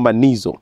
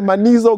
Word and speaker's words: Manizo: Monday okay then the Mano goes with the rhyme Mano with rhyme it rhymes with it a man like she's a man yeah I'm called obesy